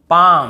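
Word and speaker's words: palm: हमें नहीं पढ़ना है जैसे काम बाम पाम और यहां पे आमंड बहुत से लोग आलमंड ऐसे बोल देते हैं बहुत काल्म बालम पाल्म नहीं होगा काम बाम पाम और आमंड ऐसे आलमंड आलमंड नहीं पढ़ेंगे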